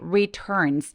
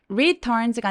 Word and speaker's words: returns: returns home 할 때 returns 아 요게 발음이 참 어려운데요 강세가 이렇게 return처럼 두 번째 음절에 있을 때에는 첫 번째 음절에 힘을 조금 빼고 returns가 아니라 returns returns 힘을 빼고 시작해 주시는게 되게 중요합니다 when he returns home 그리고